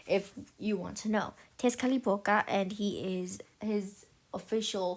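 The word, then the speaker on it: Tezcatlipoca: name is Tes calapa that's actually how you pronounce it if you want to know Tes khalipa and he is his official form is a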